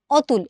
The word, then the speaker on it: অতুল: এই যে অতুল এই শব্দটাকে তুমি কিন্তু কখনো বানানে অতুল লিখলেও উচ্চারণ করার সময় কিন্তু তুমি করবা হচ্ছে অতুল। তার মানে এই যে অধ্বনির উচ্চারণটা ও এর মতো হয়ে গেল, এই ঘটনাটাকে আমরা বলি হচ্ছে সংবৃত উচ্চারণ।